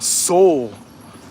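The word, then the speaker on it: Seoul: walking down this thing no it's spelled s-e-o-u-l soul sister come on making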